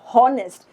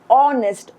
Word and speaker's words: honest: But if we pronounce this word which is honest you know it it we don't pronounce it like honest. We pronounce it honest or or which is you know the vowel sound.